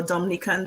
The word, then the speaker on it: Dominica: how she's pronouncing is we both pronounce it Dominica so it's like at the end and so that we don't get mixed up with Dominican Republic right yes so that's one